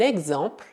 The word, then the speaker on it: exemple: Também, se a letra E for seguida de X, ela será pronunciada E, mesmo que não tenhamos escrito nenhum acento. Por exemplo, un exercice, un exemple, un exemple.